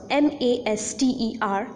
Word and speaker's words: master: The word master, M-A-S-T-E-R, master, has got two syllables in it, master. And the first syllable is more prominent as far as our force is concerned, as far as our stress is concerned, while we articulate or pronounce the word master.